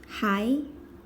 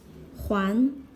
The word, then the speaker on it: 还: Hai. This is a polyphone. Pronounced as hai means still, yet, also, or huán means to pay back. To return.